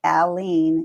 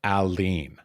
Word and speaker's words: Aline: pronounces it correctly so you take the man's name Al and then you take the word lean and that's it alen you say the L twice okay alen yes okay easy enough